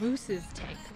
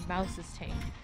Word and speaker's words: Mouse's Tank: I've been pronouncing it as Moose's Tank. It's actually Mouse's Tank.